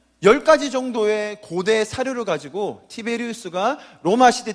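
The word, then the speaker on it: Tiberius: 티베리우스라고 적혀 있잖아요. 티베리우스. 영어로 발음하면 타이베리어스 이렇게 할 거예요.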